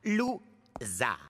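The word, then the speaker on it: Lou Zarr: Mon nom se prononce Zar. Loup-Zar.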